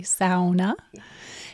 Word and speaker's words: sauna: And this is really nothing new if you look at Finnish culture and the sauna, because in the UP we say it correctly, sauna.